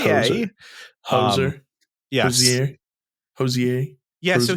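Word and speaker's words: Hozier: And then Hosier, I think it's actually pronounced Hoser.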